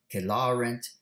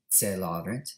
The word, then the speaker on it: Celarent: For example, the first line, Barbara Kelarent Darii Ferio, that's actually the classical pronunciation, Kelarent. In the Middle Ages, it would have been Celarent, the ecclesiastical Latin pronunciation.